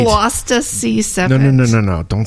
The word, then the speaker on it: Gloucester: Gloucester. Say it right. Gloucester Sea Serpent.